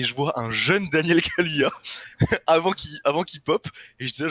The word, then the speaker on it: Kaluuya: Comment ça se prononce exactement? Daniel Kaluuya, je crois. Kadouya? Ok. Kaluuya, c'est un L. Kaluya, ok, ouais.